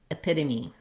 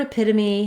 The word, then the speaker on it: epitome: In this video, we'll look at how to pronounce epitome. So the word epitome has stress on the second syllable, pit, and that means that the letter E will say a reduced vowel in this word.